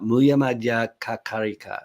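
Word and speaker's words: Mūlamadhyamakakārikā: Muya Madhya Kakarika. That's better. That's how you pronounce it, but that's why people call it the Karika.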